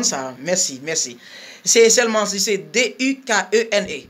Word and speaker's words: Dukene: C'est seulement, c'est D-U-K-E-N-E. D-U-K-E-N-E, right? C'est Dukene. Ça va déranger parce que c'est pas problème.